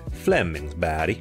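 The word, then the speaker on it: Flemingsberg: in the Stockholm area called Flemingsburg or as the swedes pronounce it Flemings B and that would be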